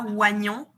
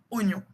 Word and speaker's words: oignon: Et ce ce mot il est un peu piégeux parce qu'on dit pas oignon, on dit oignon. Le i il se prononce pas.